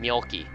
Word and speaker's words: Mjolki: So Mjolki, welcome to the chat, and it's Mjolki actually because if you look at it, it's actually I think it's Swedish is her name. It's like Mjolnir from Thor, so that's how you pronounce her name, Mjolki.